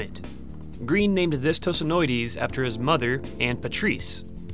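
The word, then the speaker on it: Tosanoides: How do I pronounce the first part of it? Oh, that's easy. Tosinoides.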